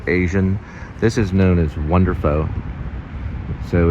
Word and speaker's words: WonderPho: you know like Asian this is known as wonderful so it's Vietnamese noodles spring roll bar it's actually to be pronounced wonderful but as Americans we say foe so it's